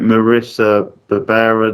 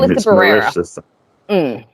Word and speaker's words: Melissa Barrera: Is it Marissa Barbera, the Sam actress? I forget how you say her name. Melissa Barrera.